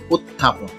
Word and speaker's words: উত্থাপন: আমরা উষ্ণ সঠিক উচ্চারণ হচ্ছে উষ্ণ উত্থাপন সঠিক উচ্চারণ হচ্ছে উত্থাপন এখানে তথ সংযুক্ত রূপ হচ্ছে এটা ত একত্রে